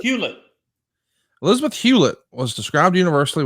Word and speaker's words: Hewlett: How do you pronounce Elizabeth's real last name? Hewlett? Hewlett.